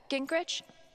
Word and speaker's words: Gingrich: jacket it's pretty cool Steph uh Gingrich is that how you say it yeah that's right what kinds of radio